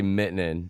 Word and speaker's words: Miettinen: I say Miettinen, but Miettinen. That's the way you say it in Detroit. You know what I mean? If you're from Finland, you might say Miettinen.